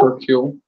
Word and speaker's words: Hercule: Hercule.